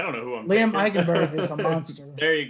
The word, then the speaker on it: Eichenberg: You'll have to help me on how to pronounce this. In Notre Dame, Liam Eichenberg? Eichenberg, yep.